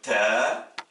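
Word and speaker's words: ت: Troisième paire de lettres, on a la lettre ta, le T, l'équivalent du T français, qui s'oppose au T emphatique qui se prononce ta, et c'est la lettre donc le ta.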